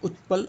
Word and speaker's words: उत्पल: जबकि नीरज उत्पल और इसको उत्पल बोलते हैं त साइलेंट हो जाता है पता नहीं क्यों हो जाता है मुझे नहीं पता लेकिन हो जाता है उत्पल इसको ज्यादा उच्चारित नहीं करते हैं त को फिर भी अभी हमें पढ़ना है